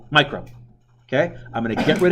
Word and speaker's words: micro: yeah what's it pronounced it's not called mu grams micro okay I'm gonna get